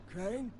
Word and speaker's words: Crane: store no my name's crane crane crane rhymes with train and brain and sign and grain and rain and plane and the other